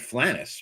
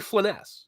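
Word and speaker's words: Flind: I I called it Flannis. What do you is Flyn? That's what I It's actually Flynn.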